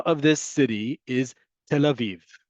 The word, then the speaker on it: Tel Aviv: And the name of this city is Tel Aviv. That yud indicates a long vowel folks. Okay. Tel aiv. It is a long vowel.